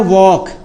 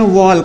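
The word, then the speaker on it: walk: लेकिन बच्चे कुछ जो पढ़ाई करते हैं ना, तो वो नहीं समझ पाते हैं बेचारे, उनको क्या बोल देते हैं? वॉल्क, ऐसे बोलते हैं वॉल्क, वॉल्क, जो कि ये गलत होता है।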